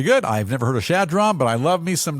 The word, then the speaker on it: Chadron: I've never heard of Shadron, but I love me some Nebraska. Johnny Carson's from Nebraska. And what's on your mind? Shadron, Nebraska, spelled with a CH, so I hope good. I'm getting it right.